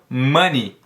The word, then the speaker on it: money: as palavras que terminam com y normalmente são pronunciados como e tão mani mani nós temos mais exemplos da palavra chave